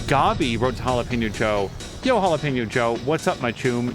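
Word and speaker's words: jalapeño: I won't help you it's jalapeno oh he's very particular about the Enya that's what you call that like symbol isn't that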